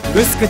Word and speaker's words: グスク: ています沖縄では城と書いてムスクと読みます江戸時代に